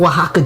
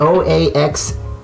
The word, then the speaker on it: Oaxaca: So we're gonna take the Oaxaca cheese.